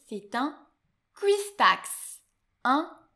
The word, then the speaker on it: cuistax: Attention, celui-ci, il est très difficile à prononcer, c'est un cuistax. Un cuistax.